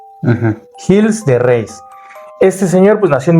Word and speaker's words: Gilles de Rais: Voy a hablar de un señor llamado Gilles de Rais. No sé si así se pronuncia, okay. Es francés. Gilles, con doble L, de Rais. Como raíz, okay. Pero con S. Uh-huh. Gilles de Rais.